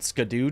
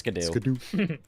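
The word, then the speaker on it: Scadu: The the new mechanic of the DLC is that you can find these things called Scadoo tree fragments. It's apparently supposed to be pronounced shadow, but nobody does. It's Scadoo.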